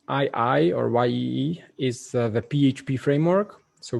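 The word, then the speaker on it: Yii: to laravel or symphony it actually should be pronounced y-i-i but for some reason i know it's pronounced ye usually um php php php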